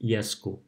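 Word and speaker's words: यसको: And for yo is similar to u, so you make it yesko. So note that it's written yesako, but we say yesko.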